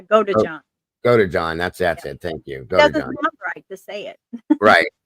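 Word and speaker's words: Godejohn: Her ex-boyfriend, Nicholas Gojan, I never could say his name right. I think it's Gojan. Yeah, go to John.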